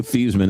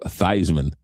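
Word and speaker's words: Theismann: It used to be it was Joe Thesman and then it was Joe Thyman.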